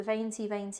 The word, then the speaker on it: Venti: It's called the Venti collection, or that's how they say it in Italian.